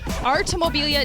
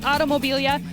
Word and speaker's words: Artomobilia: That's right, I said it right. Artomobilia, not Automobilia.